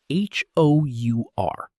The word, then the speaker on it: hour: The h is silent, so it sounds like a vowel, and that's why we say an hour, not a hour.